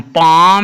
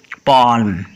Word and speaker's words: palm: PALM पाम, ना कि पाल्म।